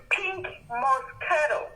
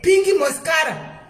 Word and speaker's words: Pink Moscato: Inonzi Pink Moscato. Pink Moscato. Pink Moscato. Vakoma vari kumwa Pink Moscato. Aiwa, inonzi Pink Moscato. Very pronunciation. Pink Moscara.